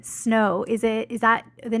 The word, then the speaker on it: Snowe: just love it yes the E is silent and is my real